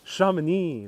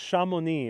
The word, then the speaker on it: Chamonix: Chamonix, the valley over here, right in front of our eyes.